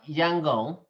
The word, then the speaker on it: Yangon: So number one, the word Yangon, okay, is a real Burmese pronunciation.